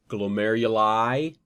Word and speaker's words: glomeruli: kind of backtracking that glomeruli pronounced with an i that that denounce denotes multiples okay um eponyms i